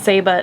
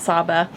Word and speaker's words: Saba: All right, so we are back from Saba, and we pronounced it wrong the whole time, by the way. It's Saba, not Saba.